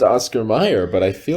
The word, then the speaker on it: Oscar Mayer: how you pronounce it but it's a it's pronounced oscar meyer but i feel like i remember it having